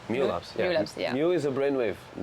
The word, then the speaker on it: Mu Labs: Is it pronounced correctly? Mu Labs, yeah.